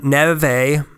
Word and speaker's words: Neve: north so in 1779 Nev a I'm just gonna you know what I'm going native I'm calling him Nev a you know it's only one more syllable what's one more syllable amongst friends yeah is that right gray